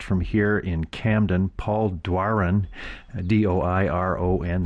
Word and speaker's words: Doiron: here in camden paul dwarin d-o-i-r-o-n that's a french name that i could imagine pronouncing it but he says duaren is and he's got lots